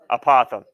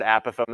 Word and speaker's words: apothem: boy apothem all right apothem it is not opossum all right it is apothem all right I've also heard a Pithom as well I put